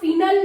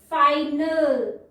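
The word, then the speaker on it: final: अब देखिए फाइनल, आई यहाँ फिनल नहीं है, ओके, शॉर्ट साउंड नहीं है, लॉन्ग साउंड है, फाइनल।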